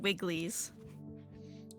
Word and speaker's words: Wrigley's: Wrigley's.